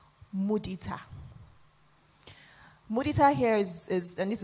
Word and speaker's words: mudita: And by the way, it's pronounced mudita.